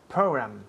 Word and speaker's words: program: Program. Good. Program. Program. Yes, program, program. Y la última letra aquí es una M, program. Los labios tocan, program.